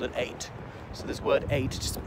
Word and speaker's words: ait: can be called an eighth so this word a just pronounce just like the number eight applies only to islands